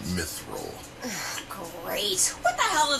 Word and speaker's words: Mithril: I don't care what they call this, the My Thrill Lines. Not feeling the thrill. It's pronounced Mithril.